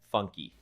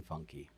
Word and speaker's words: Funke: We We are here today to clarify the pronunciation of your name. Funky. Funky.